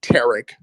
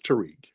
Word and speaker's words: Tariq: people y'all kill me Tarik Tarik listen tarek y'all kill me with that that's so condescending it's Tariq but go ahead okay